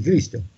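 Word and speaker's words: Χρηστός: Cresto e non Cristo, perché in greco scrivere Cresto si legge Cristo, quindi scrivere Cristo o Cresto è la stessa cosa.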